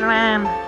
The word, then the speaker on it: Ran: there my name is ran ran turn I just pronounced it the very right way not to mention in Japanese the r and l are interchangeable so yes her name